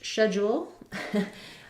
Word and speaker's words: schedule: question about schedule so British English schedule American English schedule the CH says a sound letter e says the E Red Tent vowel we have first syllable stress schedule d u in this word says a j sound schedule and then we have a schwa on stress schwa and our l sound so thinking about it